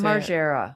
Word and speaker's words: Margera: Of, how do you pronounce his last name? Margera? Margera. Bam Margera. Yeah, that's how I say it.